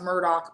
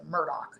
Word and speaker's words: Murdaugh: I and it's pronounced Murdoch but it's looks everybody pronounces it different. I've watched two different documentaries and there's like five different pronunciations, but they themselves pronounce it Murdoch, even though it's spelled Mur D A U G H.